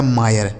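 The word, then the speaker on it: mire: से र लिखा गया मायर। समझ गए ना? तो दोस्तों आई के साथ अगर आर इ लिखा गया हो तो उस आई का उच्चारण हमें क्या कर देना है?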